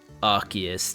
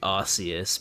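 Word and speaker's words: Arceus: I find it extremely stupid that they change the pronunciation of Archus to Arus because the the whole thing with Archus is that it's root word. The root words are Ark and Deus.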